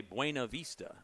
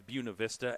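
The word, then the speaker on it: Buena Vista: bua Vista Virginia but a lot of people would look at it and say buav Vista but it's it's buav Vista as o Kelly McWilliams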